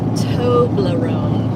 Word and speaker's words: Toblerone: Says it's pronounced Toblerone.